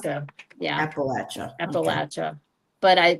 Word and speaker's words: Appalachia: Appalachia, If you're from there, you got people there, whatever, it's Appalachia, Appalachia. Yeah, Appalachia. Okay. Appalachia. But it's people say Appalachia, but it's Appalachia if you're from the South.